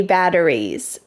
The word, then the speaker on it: batteries: Triple A batteries, triple A batteries. Double A batteries, Double A batteries. Notice that in American English when we say batteries, that T changes to a D.